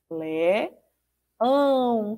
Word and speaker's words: leão: Lé-ão. Como é que eu registro o som do ão? Na sílaba ão, ó. Eu uso a, tio. Ó, esse acento em cima do a se chama o tio, tá certo?